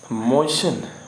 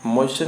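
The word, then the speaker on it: moisten: अगला वर्ड है मोशन। मोशन में होता है गीला करना, गीला या भिगोना, भिगा देना। यहाँ पे टी आपका क्या है, साइलेंट है, ठीक।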